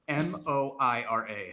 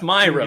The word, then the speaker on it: Moira: But Patrick, M-O-I-R-A. How would you pronounce that? You already did it. You did it wrong. Moira. Okay. No, it's Myra, Patty.